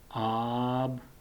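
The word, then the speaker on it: آب: Okay, and next word is, it's alif and with mud sign, so it sounds, it is pronounced like ah sound, ah sound. Ab, and bay at the end, so ab, ab, ab.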